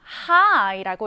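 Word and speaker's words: high: 높이가 높은과 낮은 우리는요 하이라고 읽습니다. 자, 스펠링 보시면 H i Gh데요.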